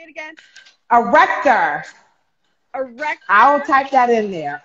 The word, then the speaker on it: arrector pili: It's called the erector pili muscle.